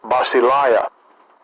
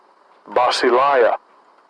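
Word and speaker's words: βασιλεία: Get the pronunciation in the Greek. Strong's G 932. Basileia. Basileia.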